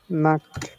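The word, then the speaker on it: Nacht: কি লিখেছিলাম না এন আ সে আ তে নাক মানে হচ্ছে নাইট নাইট হ্যাঁ ভেরি গুড ও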